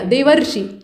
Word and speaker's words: देवर्षि: तो इसको थोड़ा दबा कर क्यों खींचा जा रहा है, क्योंकि ऐसा ही आप उच्चारण करते हैं, ये सुनने में थोड़ा हास्यास्पद लग सकता है, लेकिन आप पढ़ेंगे क्या, देवर्षि, ठीक है, देवर्षि, तो